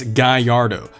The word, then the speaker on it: Gallardo: It's Gallardo, just Gallardo, Lamborghini Gallardo. That's it. It's not that hard. There's a few other variations to its pronunciations, but as long as you get the general gist. And again, that's like not really English speaker fault, because written on paper it's 2 L's, and logically speaking you